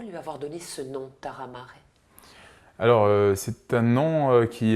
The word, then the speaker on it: Tarra Mare: Alors moi je l'appelle Taramare, ça pourrait être Taramar, si ça fait référence au mot corse de la terre et de la mer. Exactement. Exactement. Et en même temps, si on le prononce Taramare, il y a une consonance japonaise également.